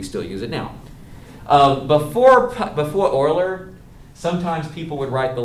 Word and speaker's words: Euler: Euler is the, I know you think it's spelled with an O, but it's pronounced, the guy's Swiss mathematician Euler.